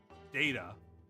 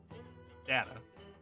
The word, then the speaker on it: data: and there's a few words like that envelope data data uh I can't remember the other one but